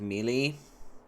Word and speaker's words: melee: I like melee. I say melee correctly. There is no A in melee. You split the word in half, it's me-lee.